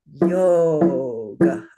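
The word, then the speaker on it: योग: And what do we know about O from the vowel song? It's long. Yes, it's 2 beats, right? So this word would be pronounced yoga, yoga, yoga.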